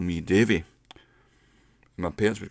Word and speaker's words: Dave: the call call me dive hey Dave are you there dive and rather than saying Dave he pronounced an a like an eye so a dive like